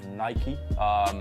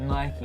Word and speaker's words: Nike: home, the original of Nike. So yeah, but we went over for... That's the first time that we've done this show. I said it right. That you said Nike. I know. And not Nike.